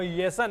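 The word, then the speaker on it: Marco Jansen: मार्को spelling आप जरूर जे से स्टार्ट हो रही है, लेकिन जे साइलेंट है, वो येसन है।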